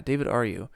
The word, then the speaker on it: David Ryu: David Aryu or David Aryev? I think it's He's Octane Jesus. David Ryu. Yeah, David Ryu.